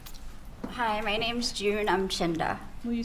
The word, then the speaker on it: Umchinda: Hi, my name's June Umchinda. Will you spell that, please?